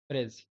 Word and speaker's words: bridge: Here in this word, D is silent. Okay. Bridge. This is pronounced as bridge.